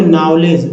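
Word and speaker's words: knowledge: हैं, आओ, तभी तो नॉलेज, नॉलेज नहीं नॉलेज, यहाँ जो है डी साइलेंट है।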